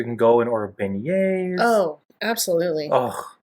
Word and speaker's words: beignets: You're eating these like Mickey Mouse shaped beignets just drenched in powdered sugar. How does your troglodyte brother pronounce? Yeah, my brother, when we went with them, he kept calling them begnets.